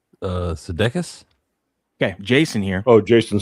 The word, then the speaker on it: Sudeikis: Sudeikis. Okay, Jason here. Oh, Jason Sudeikis. Yeah. Sudeikis.